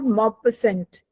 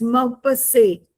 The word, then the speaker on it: Maupassant: It's not Maupassant. It's Maupassant. T is silent.